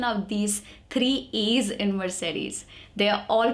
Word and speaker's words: Mercedes: these three es in Mercedes they are all pronounced different M SE D all three Es are pronounced differently in this word okay moving on next